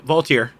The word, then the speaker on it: Voltaire: Am I reading it wrong, or did you spell that? No, Voltaire. It's Voltaire.